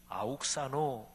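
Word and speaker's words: αὐξάνω: 헬라어 원어로 이 잘하다라는 동사는 아욱사노 이렇게 발음이 됩니다.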